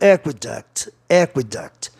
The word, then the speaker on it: aqueduct: Aqueduct, a pronúncia aqueduct, termina em vogal duas consoantes, palavra proparoxítona.